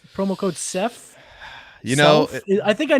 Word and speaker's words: Seth: from for some reason old men cannot enunciate the S and it becomes a z it becomes a z zeth remember my geometry teacher